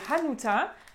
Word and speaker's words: Hanuta: Donc ça, c'est des Hanuta, avec bien le H qu'on prononce, Hanuta et pas Hanuta, d'accord?